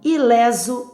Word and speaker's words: ileso: Ileso e obeso pronunciam-se com e aberto.